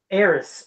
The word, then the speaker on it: Aerith: when he was laying eros or Aerith however you want to say her name spelled two different ways but when she died